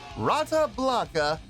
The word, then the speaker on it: Rata Blanca: the channel tonight tonight we have oh my pronounce this name right brata Blanca yes indeed how about that rata Blanca making their debut on the channel before we